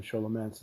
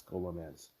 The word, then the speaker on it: Scholomance: do old dungeons, and Sholomance is there with the or Scholomance, however you pronounce it. I think it's Scholomance. I think it's Scholomance. That's how you pronounce it.